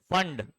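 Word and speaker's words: Pfund: Lyman, Balmer, passion, bracket, फंड। P silent है वहां पर, याद रहेगा।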